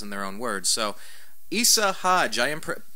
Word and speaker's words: Isa Hodge: So, Isa Hodge, I am pronouncing that correctly, right?